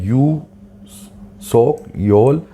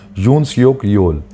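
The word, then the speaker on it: 윤석열: वर्तमान के जो राष्ट्रपति है उनका चुनाव हुआ था मई 2022 से, और वो है यू सोक योल, ये थोड़ा नाम के प्रोनाउंसिएशन को ठीक से कर लेना, यून सियोक योल, तो ये इनका नाम है।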